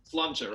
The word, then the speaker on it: Sláinte: Sláinte, right? Sláinte.